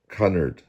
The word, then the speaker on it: Cunard: Cunard is how you pronounce it. Cunard.